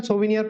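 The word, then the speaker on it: souvenir: ठीक सोनियर का मतलब इसको बेटा सोनियर प्रोनाउंस करते हैं ठीक है क्या प्रोनाउंस करते सोनियर आगे देखिए वर्बेट वर्बेट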